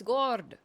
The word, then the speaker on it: Gord: It's Gord. Gord. That is not an A, it's a double O, brother.